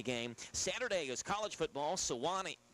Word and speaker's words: Sewanee: Sewanee. How you say it? Sewanee.